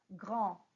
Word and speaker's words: grand: Faites attention à la prononciation parce que quand nous avons une consonne qui finit en mot en français, on ne prononce pas cette consonne. Alors, on va dire grand.